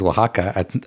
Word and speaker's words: Oaxaca: And the only one that comes to mind is Oaxaca. Like, so how do you say? Yeah. How do you say? And you don't even hear the X in Oaxaca.